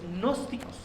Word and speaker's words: gnósticos: Un grupo de personas que formaron grupos, que formaron sectas que se conocen como los gnósticos. Sí, gnósticos, se escribe Gnosticos, gnósticos con G al inicio.